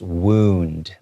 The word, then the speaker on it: wound: But when there's a W, it's just wound, okay, with a longer O sound. Okay, but don't forget the N sound as well.